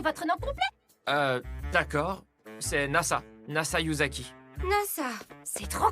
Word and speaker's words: Nasa: nom complet d'accord c'est NASA yuzaki pas ça c'est trop cool la ça comme l'agence spatiale pas tout à fait ça c'est l'innassa mais ça s'écrit avec